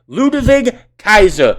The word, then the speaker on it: Ludwig Kaiser: in this match alone it's ludwig kaiser not ludwig or ludwig it's ludavig kaiser michael cole get the